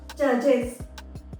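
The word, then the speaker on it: judges: तो जब हम इसमें एस लगाएंगे तो वो हो जाएगा जजेस। इस वर्ड को आप जजेस बोलेंगे, इज आएगा लास्ट में।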